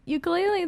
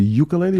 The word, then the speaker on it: ukulele: But this is my ukulele that I got there. so how do you say really, ukulele or ukulele?